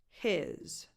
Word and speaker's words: his: He, his. Also, the H of he tends to be stronger than the H of his, which if you speak faster, gets dropped completely.